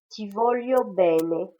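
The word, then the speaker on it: ti voglio bene: disent plutôt pizza et le G plus le l se prononce li on dit tivolio bene cela veut dire je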